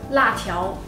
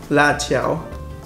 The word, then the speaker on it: 辣条: 辣条. 辣条.